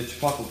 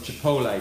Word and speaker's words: chipotle: I'm using these because they've got the wonderful sweetness works with the chipotle paste in there, or chipotle, depending on how you pronounce it.